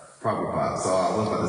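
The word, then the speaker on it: Prabhupad: Sheila praupad praupad.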